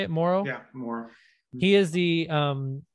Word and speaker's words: Morrow: Yeah, Morrow.